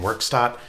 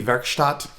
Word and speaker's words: Werkstatt: recently got the moogworks.o1 i wasn't sure how to pronounce it a lot of youtubers were saying workstat it looked german to me so i thought maybe verstat but i'm gonna say workstop and um if i